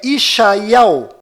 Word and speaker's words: ישעיהו: Inclusive, se você pegar o nome de Isaías em hebraico e usá-lo na pesquisa do YouTube, verá que a pronúncia correta deste nome lá em Israel é Yeshayahu.